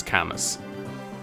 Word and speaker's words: Camus: so we know that the proper way to pronounce his name is Camus I've actually checked can we this is true here do you actually say it's great but the entire fireman community knows him as Camus and if something is